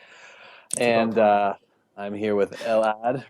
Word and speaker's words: Elad: I'm here with Elad, right? Am I pronouncing that right? That's correct. That's right, Elad.